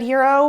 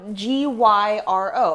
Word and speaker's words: gyro: what it is what's heroic about it no g-y-r-o a hero that's the word that everyone thinks is pronounced gyro well the thing that